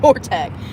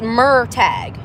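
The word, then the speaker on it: Murtagh: Like, why would he name him Mortag? Yeah, see, it's Murtag. Murtag.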